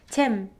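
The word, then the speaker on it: 잼: So in English, it's pronounced jam, right? Jam. You guys extend m sound, but we don't do that. We just end with tim, tim.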